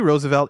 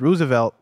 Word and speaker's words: Roosevelt: website states that Teddy Roosevelt is their namesake, confirming that it's Roosevelt, Roosevelt, and not results. Both Rose and Ruse are considered correct pronunciations and vary regionally.